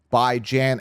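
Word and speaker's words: Bijan: the other but the number three I got by J and Robinson now some people say well that's not how you pronounce his name but it is we went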